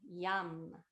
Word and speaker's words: yam: the chakra is fana the syllable is yam yam why like a yo-yo yum and as we chant